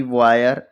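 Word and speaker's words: wire: डब्ल्यू आई आर इ वायर एच आई आर ई higher T आई आर ई tyre आपको यह ध्यान रखना है।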